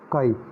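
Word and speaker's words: χ: काई, इसकी प्रोनाउंसिएशन काई होती है।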